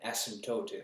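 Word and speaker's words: asymptote: Uh but I also studied calculus so I know what an asmtote is. There's a silent p in there.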